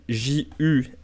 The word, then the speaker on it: Juche: Donc, en Corée du Nord, on dit Juche. C'est que ça se prononce plutôt comme ça, et ça s'écrit... Alors, c'est entre le Z et le Ju.